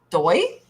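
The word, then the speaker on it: Dux: So it's really Royal Doy? Royal Doy? Oh, it's spelled D-U-X. How is that Doy?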